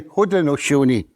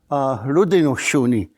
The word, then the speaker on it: Haudenosaunee: Onondagas and Seneca, they'll say Haudenosaunee. But Mohawk and Oneida, we'll say Haudenosaunee. Only a little bit first syllable. They say ho, we say lo.